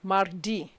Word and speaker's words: mardi: r in in madin you pronounce it aloud mar d wednesday is merry cross thursday is jody friday von draw d saturday sunday sunday the munch i take it again monday londy tuesday mardi wednesday merry crody thursday